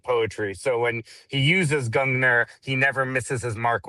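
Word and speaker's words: Gungnir: And say again, how do you pronounce the name of your company? Your publishing company. It's a Gungner.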